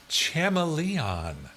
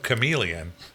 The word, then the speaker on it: chameleon: He commonly said Chamaleon instead of Chameleon.